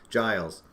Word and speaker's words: Giles: Giles. Like the Jay Giles band.